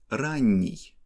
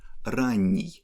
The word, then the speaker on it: ранний: The last example is adjective ранний, that means early. You see that here we don't have stress at the end, and we pronounce n in soft way.